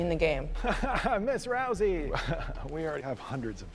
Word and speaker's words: Rousey: far do it Rhonda is it Rousey I thought it was rusi there you go anyway